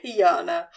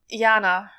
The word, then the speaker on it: Jana: Jana. Yes. I watched this German Pokemon streamer whose name is Jan, and he always is just say Jan. It's close enough. Jana. It's a nice and open R.